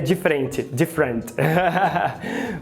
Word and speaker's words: different: que você fala, porque na escrita parece que são 3 sílabas, né? Different. Mas na fala são só 2 sílabas. A pronúncia é different. É como um americano falaria different.